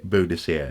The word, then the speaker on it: Boadicea: so in that sense there is a very good argument that that is how should be said mr. soup it should be Boadicea it should be I